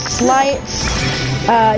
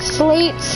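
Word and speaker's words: Sleights: I have always thought that the term would be slights, but I've been corrected and have said it's been told it's slates. It is Not slates.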